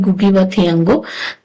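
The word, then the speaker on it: Ngũgĩ wa Thiong'o: जैसे लिखा ही है बट इसका प्रोनाउंसिएशन है गुगी थियांगो।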